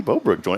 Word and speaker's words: Bobruk: Welcome in, Bobruk.